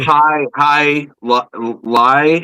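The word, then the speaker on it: jai alai: So it's instead of instead of high lie, it's it's J A I A L A I.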